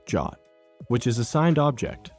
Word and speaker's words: JWT: That token is typically a JWT, or JSON Web Token, pronounced JWT, which is a signed object that bundles audience, expiration, and granted scopes.